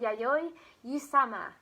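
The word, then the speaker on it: Yayoi Kusama: called and i asked my nephew how to pronounce this so if i get this wrong i'm very sorry but she's called yayoi usama and she actually designs things with pumpkins so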